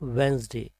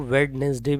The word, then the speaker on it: Wednesday: Next है हमारा वेंसडे। कुछ लोग इसको वेडनेसडे भी बोलते हैं, मतलब अलग अलग तरीके से इसको बोलते हैं बट इसकी राइट प्रोनाउंसिएशन है वेंसडे।